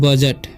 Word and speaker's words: budget: अब यहाँ लिखा हुआ है BUDGET, ठीक है। तो यहाँ पर क्या साइलेंट है, डी साइलेंट है। इसे पढ़ते हैं हम बजट, क्या पढ़ेंगे, बजट, ठीक है।